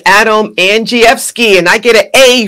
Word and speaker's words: Andrzejewski: Folks, it's Adam Andrzejewski, and I get an A for pronouncing your name correctly.